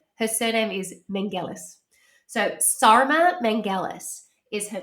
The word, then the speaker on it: Sarma Melngailis: So Sarma Melngailis is her name, and that's the way they pronounce it.